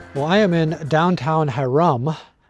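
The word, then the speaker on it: Hyrum: Well, I am in downtown Haram. H Y R U M. That's how it's spelled.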